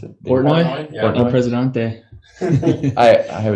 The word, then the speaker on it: Portnoy: Is that how you pronounce it? Portnoy?